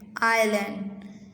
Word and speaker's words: island: Number 3 island, IS is silent, land, island.